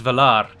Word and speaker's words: Valar: the way it's spoken, you roll the R, you give some oomph to the R, so it's Valar.